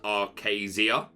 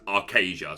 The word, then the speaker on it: Archazia: in the Stream um I was told it was pronounced Aria uh but I've since heard it pronounced multiple times by people that include uh Ryan Miller that it is arcasia so that is what